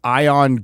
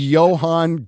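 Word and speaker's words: Ioan: If you look at how his name is spelled, it's Ion Griffud, Yes. but it's That is actually Welsh. Johan Griffith.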